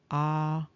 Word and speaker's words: Αβαδδών: And so, with respect to this word Abaddon, which is in Strong's 11, we see that it is actually pronounced Αβαδδών.